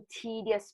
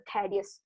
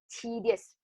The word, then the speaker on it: tedious: 注意我的读音，这个读 tedious 不是 tedious， tedious.